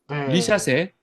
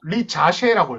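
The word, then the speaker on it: Risacher: 아고 있는 거 맞죠 리 자세라고 읽어야 돼요 오늘 기사 나오니까 리 자세라고 돼 있다라고 아담 버가 리 자세라고 하더라 아네 네 이제 자라고 불러야 될 것 같습니다 네네 그리고 이제 사르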